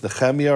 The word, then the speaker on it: Nehemiah: And he said, oh, so you pronounce the H as a ch. I said, yes. And I know in Arabic there's two letters, ch and ha. So he doesn't know if it's Nehemiah or Nehemiah.